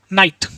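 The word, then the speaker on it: night: Next है जब किसी वर्ड में आई के बाद जी एच टी आए तब भी आई को आई से पढ़ते हैं, और एच टी में आया जी एच हमेशा साइलेंट होता है, जैसे फाइट, लाइट, राइट, नाइट, इस तरीके से।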